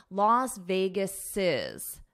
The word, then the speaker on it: Las Vegas's: Here, I'm making it possessive, but for pronunciation, I need to add an extra syllable. Las Vegas's, Vegas's, Las Vegas's multi-billion dollar entertainment venue.